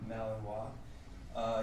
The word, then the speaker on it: Malinois: He's a Belgian Malinois, and that's spelled very much like Illinois, pronounced Malinois.